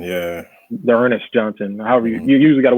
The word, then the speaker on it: D'Ernest Johnson: it's hard to say you missed on, but Darrington Johnson, is that how you pronounce his name? From the Browns. D'Ernest Johnson, yeah. D'Ernest Johnson.